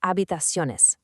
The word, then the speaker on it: habitaciones: Same with habitaciones. It's habitaciones.